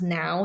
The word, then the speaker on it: NH: It was the now it's NH but it's pronounced now the now Roma.